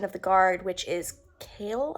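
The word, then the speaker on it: Chaol: the Guard which is kale I think is how you pronounce his name kale Cole however you say it um and I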